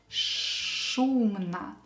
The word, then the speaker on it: шумно: When you pronounce sh letter, keep your tongue up. Шумно. Шумно. The sound should be very clear.